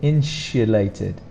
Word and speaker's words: insulated: Now listen to this bit. Insulated. Insulated. There's a sh sound there, but we don't put an H, it's just SU. Some people might pronounce it insulated, but again it's a SU sound.